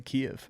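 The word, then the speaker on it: Kyiv: Or Kev. What? I don't I don't even know how to pronounce that at this point. Kev is the Ukrainian pronunciation, but I just don't care.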